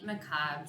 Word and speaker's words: macabre: It is time for chapter 6 in our story, and it is called Faintly Macabre's Story. I've decided to use the American pronunciation of the word, so it's macabre.